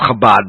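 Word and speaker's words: Chabad: guests Rabbi Diddy wax from the if I mispronounce it Shabbat up at Hamilton College in Clinton New York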